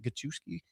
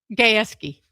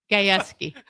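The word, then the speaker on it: Gajewski: It's fun to watch as I thought Gachki's come Gachki that did I pronounce that right? Head coach Oki State. Yeah. Oh, Gaeski. Gayski.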